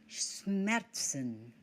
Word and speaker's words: Schmerzen: Remember, SCH in German, this combination is pronounced sh, as in the initial sound of the English word shower.